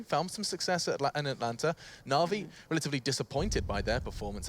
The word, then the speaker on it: NaVi: That's actually the phonetical way to pronounce NaVi. NaVi.